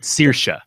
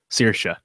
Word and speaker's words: Saoirse: I'm not gonna say her name right. Saoirse. Saoirse She did this in her SNL monologue. It's like inertia. Saoirse. Very easy.